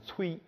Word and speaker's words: 吹: 崔和吹之间呢是不一样的发音，但东北话说这吹就念崔啊，你崔吧啊，这东北话。